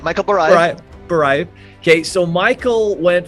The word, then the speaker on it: Barayev: Michael Barayev.